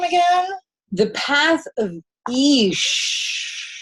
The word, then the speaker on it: Ix: The Path of Ish. It's like when you're walking on a path and you're like, Ish. This is not easy. You're in a forest. Kind of like that, but it's spelled I-X.